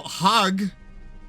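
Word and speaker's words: Den Haag: It is The Hague in English, apparently. And apparently in Dutch, it's something like Den Hagen. So, Haag is also correct. So now I don't know how to say it.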